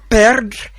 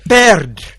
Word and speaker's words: perdre: So the verb perdre, it means to lose. Répétez, perdre. Perdre. Can you spell it for them, Roderick?